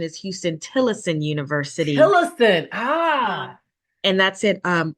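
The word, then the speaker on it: Huston–Tillotson University: graduates that are on the call so the pronunciation is Houston tillison University ah and that's in um Austin Texas the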